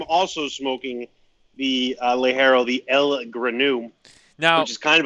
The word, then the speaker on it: L-Granu: are smoking the Ligero, and if I don't pronounce it right, call me out. I don't give a shit. The El Granu.